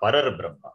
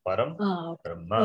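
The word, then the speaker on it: परं ब्रह्म: Therefore not Parar Brahma. It is Param Brahma.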